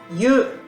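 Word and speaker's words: 湯: So this one, Japanese meaning hot water, pronunciation is yu, but Chinese Mandarin.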